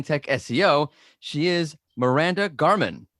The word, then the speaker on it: Gahrmann: the women in tech seo she is miranda garman how are you good how are you i'm good did i pronounce your last name right yes okay good